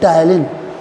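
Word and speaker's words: ptyalin: Electrolyte जो होती हैं ये हमारे माउथ में जो सलाइवरी एमाइलेज निकलता है, जिसे हम बोलते हैं टाइलिन. Salivary amylase also known as टाइलिन, P silent होता है इसमें.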